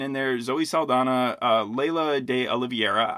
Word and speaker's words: Laysla De Oliveira: there Zoe Saldana uh Leila de oliviera I'm not pronouncing the s in her name because I think it's silent um it reminded me